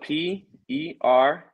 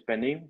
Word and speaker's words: pernil: So it's spelled Pernil. In Spanish, it's pernil, but in English, it'll be pernil.